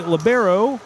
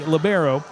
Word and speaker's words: libero: Addison CPPley is the libero or you can pronounce it Libero. That's the um European pronunciation, Libero. uh when they uh initially brought it in to play in 1998. Uh but uh here we say Labbero and that's Addison CPPley.